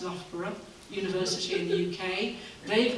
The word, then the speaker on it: Loughborough: we've got an installation in the university that's pronounced loughborough university in the UK they've done a lot